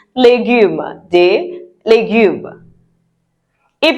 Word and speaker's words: légumes: Yes, it's not the English legumes. Vegetables in French is légumes.